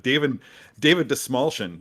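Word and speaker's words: Dastmalchian: I remember when David Desmalchin actually taught me how to say his name by saying that a friend of his came up with the phrase "the small chin." So if you're wondering how to pronounce that actor's name, then that's how it's done.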